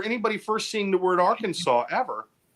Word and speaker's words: Arkansas: truth it is illegal to mispronounce the name of the State Arkansas so if somebody comes down there and says it's nice to be in AR Kansas you're gonna get arrested